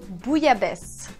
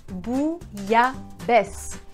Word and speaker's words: bouillabaisse: Bouillabaisse. Bouillabaisse.